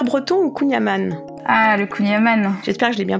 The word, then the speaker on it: kouign-amann: ou hiver far breton ou kouign-amann ah le kouign-amann j'espère que je l'ai bien prononcé ouais ça va ça passe ça se